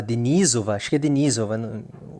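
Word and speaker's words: Denisova: também surgiu do homem-aranha da Ásia o homogenizova de nizova o jeito certo de falar que é um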